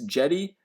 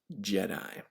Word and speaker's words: Jedi: and I'm not sure if it's jetty after a location in my and Mara where it's formed or if it's Jedi like the famous Knights in a galaxy far far away but I certainly pronounce that Jedi now there is the